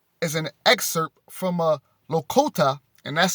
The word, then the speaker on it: Lakota: most beautiful examples is an excerpt from uh lokota and that's spelled l-a-k-o-t-a lakota prophecy and obviously this is an ancient